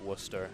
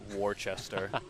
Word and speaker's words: Worcester: i heard was that you pronounced it worcester and not worchester as other americans might be tempted to do i'll admit i